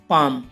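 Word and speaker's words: palm: रहेगा for example guys पाम अब इसमें देखो गाइज एम से पहले एल आया हुआ है तो एल साइलेंट है और इसका हिंदी होगी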